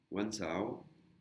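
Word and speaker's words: วันเสาร์: Et là, le A, Kalan, la virgule dessus, Kalan, elle se prononce pas. Samedi, Wansao, Wansao.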